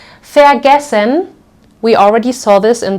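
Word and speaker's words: vergessen: many other verbs and we will always pronounce this like fair fair gessen we already saw this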